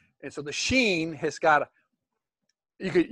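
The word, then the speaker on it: שין: right above it yeah it's seen in sheen and it's shaped like this it's shaped like a w and it's the s sound and it's also the sh sound depending on the application g think about this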